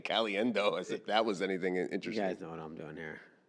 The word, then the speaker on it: Caliendo: that's also when we learned that on the pronunciation guide that Tom Brands decided to tell us that it was Caliendo. I'm gonna, Galiendo. Caliendo.